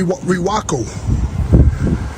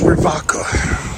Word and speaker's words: Rewaco: the top it look like I say re reaco but I was told it's pronounced raka it's German made wind blowing it's German made